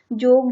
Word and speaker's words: joke: जोक, जोक में E silent है। JOKE, जोक होता है, लेकिन ये हम लिखेंगे पर बोलने में नहीं आएगा, ये साइलेंट है, ठीक है।